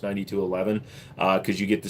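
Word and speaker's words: 92XI: performance of the performance get the 9211 the 92 XI it's actually pronounced 9211 uh cuz you get the same slide mounted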